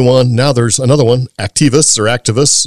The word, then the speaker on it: Actavis: Now there's another one, Activis.